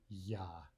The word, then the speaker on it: Я: Let's begin with the letter that looks like a backwards capital R. That's the sound ya, ya.